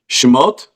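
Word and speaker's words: שמות: say after me may as well say it shmot foreign Genesis Exodus Leviticus Numbers Deuteronomy so so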